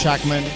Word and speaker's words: Schachman: I'm with Hackman that there pronounce it correctly yes right how do you